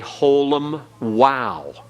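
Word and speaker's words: holam vav: And the longer holum is a holum wow. A holum wow. And in this situation, the wow is not a consonant. It becomes a silent vowel letter. And it's the O as in vote.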